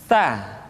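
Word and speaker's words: ث: Biasanya huruf Sa terjadi kesalahan pada suara yang tidak mengalir. Jadi sekedar nafas yang mengalir. Sa, si, su, bas. Atau lidah yang keluar terlalu panjang. Sa. Jadi yang tepat adalah ujung lidah disentuhkan dengan dinding dua gigi seri bagian atas.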